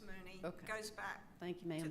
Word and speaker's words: Mooney: because it looks like Mony but it does it looks like Mony but it's pronounced Mooney goes back thank you